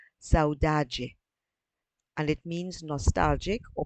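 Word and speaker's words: saudade: Matthew Wong's favorite word is a Portuguese tomb pronounced saudaji and it means nostalgic or profound longing for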